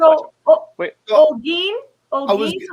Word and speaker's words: Holguin: Pretend that H isn't there. The H is silent. It's pronounced Holguin. And pretend that U isn't there.